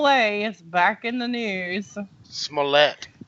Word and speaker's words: Smollett: back in the news Smollett that's that's how you say it smell that smell let's